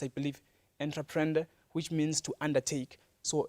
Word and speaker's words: entreprendre: Now, the word entrepreneur itself is probably derived from a French Latin word, which is pronounced, I believe, entreprendre, which means to undertake.